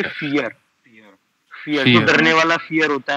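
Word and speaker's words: vier: English में पढ़ोगे यर बट अब मैंने आपको बताया व प्रोनाउंस होता है जर्मन में ए तो पढ़ोगे फियर फर डरने वाला फियर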